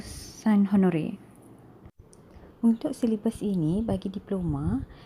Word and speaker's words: Saint-Honoré: Untuk pronunciation yang betul, boleh dengar pronunciation Google telah saya sediakan di sini. Gâteau. Gâteau. Saint-Honoré.